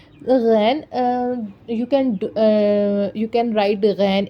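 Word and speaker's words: غ: Okay, so and we have ghain. Next is ghain. Ghan, ghan. In Urdu, it's ghan. In Arabic, it's ghain. Okay, there is the difference between Arabic and Urdu because it has it has more similarities.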